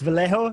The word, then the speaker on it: Vallejo: much better than i alex vallejo is that how you would pronounce it yes alex is a little